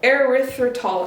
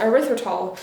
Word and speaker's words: erythritol: aspartame or erythritor earth control how do you pronounce it erythritol erythritol or whatever like sweetener you want you can